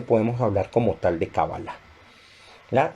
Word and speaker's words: Kabaláh: Eh, la palabra generalmente ustedes lo van a encontrar como Kabbalah, pero la pronunciación más acertada, teniendo en cuenta el término en hebreo, es Kabbalah, con tilde al final, ¿verdad?